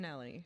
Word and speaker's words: Schnelle: How you pronounce your last name again? Schnelle.